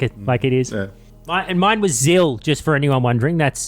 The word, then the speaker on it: Xil: Mine was Zil, just for anyone wondering. That's Xil. X-I-L.